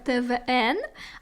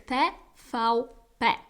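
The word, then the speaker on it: TVP: польський канал tfa-up і іноземцям часто дуже хочеться прочитати його як твн але польською це читається як те ФАУ пе і в польських словах це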